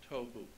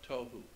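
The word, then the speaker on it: תֹהוּ: being translated there is tohu and vohu. Pronunciation, it would be T-O-E hyphen W-H-O, tohu. That's not the way it's spelled in Hebrew, but that's the way it's pronounced. T-O-E W-H-O, tohu.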